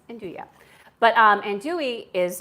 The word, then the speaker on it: 'nduja: Last week on my stream I said na and I'm like I better know how to say this. I'm like oh no it's Andua.